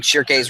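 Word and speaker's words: Schierke: Shirkei. Because I've heard it pronounced just Shirk, not with the Ke, just Shirk.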